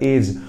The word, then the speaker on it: edge: I repeat English के कई words में डी साइलेंट जाता है जिनमें से कुछ टर्म्स होते हैं एज EDGE जिसे हम एज पढ़ते हैं हमें से कई जगहों